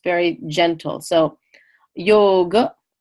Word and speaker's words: yoga: big hot the jaw so that terminal a is pronounced uh not ah so that's why in India you'll never hear anyone say yoga or Ayurveda because that last aa is just a schwa sound ER is just an